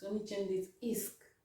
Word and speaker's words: finiscono: Finiscono, finisc. It's only changed it. Isk, isk, isk, isk. You pronounce it that way.